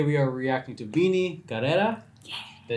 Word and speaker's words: Karera: Today we are reacting to BINI, Karera.